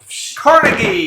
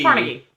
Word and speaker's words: Carnegie: new game 69 and this one suffers from mispronunciations or different pronunciations here we go so is this a t game by chance no it is no Carnegie Carnegie or Carnegie if you're from other parts parts it's a it's a